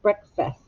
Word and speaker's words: breakfast: you don't hear an a you hear i think it sounds like a short you breakfast some of you may